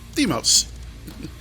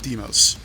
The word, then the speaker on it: Deimos: have checked that ahead of time how to pronounce demos and it's two moons phobos and deimos with no action for 50 million miles your